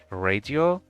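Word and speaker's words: радио: For instance, radio, radio. Even though the letter O is not under stress, it is still pronounced as O because the word is borrowed.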